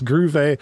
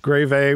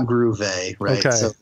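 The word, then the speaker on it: Grewe: to three different ways groove a grave a what the how do you say it it's not groovy okay no sense because it's and you're getting both W sound day on the V sound so I the way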